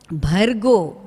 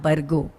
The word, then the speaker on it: भर्गो: Om Bhur Bhuvaswaha Tat Savitur Varenyam Bhargo Devasya Dhimahi Tat Savitur Varenyam Bhargo, not Bargo.